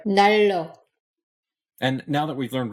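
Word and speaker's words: 난로: And this word heater isn't pronounced 날로, but rather 날로.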